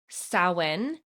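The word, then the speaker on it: Samhain: It's called sin is how it's pronounced but it was a festival of the dead.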